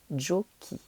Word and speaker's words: giochi: Et pour ne pas avoir le son ch et garder le son que, en italien, on a vu que le son que se faisait ch quand il y avait un i ou un e. Donc, on va devoir faire giochi. Comme dans mi chiamo. Ça fait que.